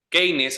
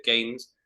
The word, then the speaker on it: Keynes: Keynes, así como se escribe, Keynes, es un economista que utilizan generalmente los peronistas, ¿sí?